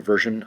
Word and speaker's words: version: Version, I just want to go back to version. I'm not sure if I looked at the syllables in version. Version has 2 syllables. Version, it is a version, so the accent will be over the first syllable.